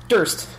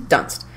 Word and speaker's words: Dunst: Durst. How do you pronounce her last name? Kirsten Dunst. There. Kirsten Dunst.